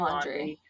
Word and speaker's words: Laundrie: How do you pronounce? Laundrie is the last name. So his name is Yeah, Brian laundry.